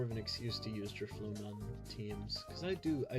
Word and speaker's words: Drifloon: Well, it's kind of like drift, but instead of the T, you get fluon, like balloon. So, it's DFloon.